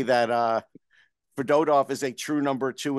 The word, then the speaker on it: Fedotov: Fedotov. It's Fedotov. We thought it was Fedotov, but we were all wrong, of course. It's always the middle syllable. That's the rule to live by, is the accent.